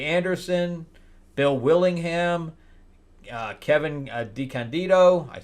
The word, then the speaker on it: DeCandido: Anderson, Bill Willingham, Kevin DeCandido. I said it's Candido. I said it wrong.